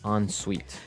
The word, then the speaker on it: ensuite: en right hyphen s-u-i-t-e so even though it's e-n we pronounce it like an o-n yep ensuite so an ensuite bathroom